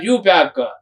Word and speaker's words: IUPAC: UPAC, it is also abbreviated as UPAC. I is silent, UPAC.